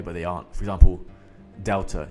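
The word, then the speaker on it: Δέλτα: For example, delta. You would think that delta is the D sound, but it's actually a TH. Delta. Something to note.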